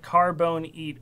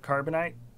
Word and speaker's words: carbonite: I said carbone eat earlier instead of carbonite.